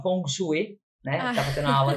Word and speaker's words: feng shui: Shui né que eu descobri hoje que não se pronuncia Feng Shui né que é a organização da casa do Lar do ambiente e tal chama fong chu né tá fazendo a